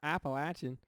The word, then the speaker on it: Appalachian: for yo North Carolina the Appalachian Mount Appalachian that's how they say it people in the mountains